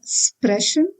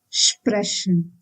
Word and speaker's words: sprechen: If you find SP or ST in the beginning of a word, you need to pronounce it as Sp and St respectively. For example, sprechen. So we should not pronounce it as sprechen, but then sprechen.